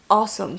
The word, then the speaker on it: awesome: awesome? So it's more like a oh. Awesome. Oh. Yeah, Okay. think of it like an open A.